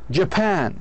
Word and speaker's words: Japan: لاحظوا مثل كلمة Japan. Japan. Japan. لاحظوا ج هذه شوى إجا المقطع، إجت الشوى على المقطع الثاني.